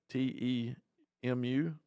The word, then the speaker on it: Temu: I think it's pronounced Temu, Temu. I hope I'm saying that right.